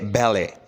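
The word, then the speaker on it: ballet: इसके बाद बाद है बैले बैले कहते हैं नाच गाने को ठीक है नाच गाना तो इसमें टी साइलेंट है बैले नेक्स्ट है ससल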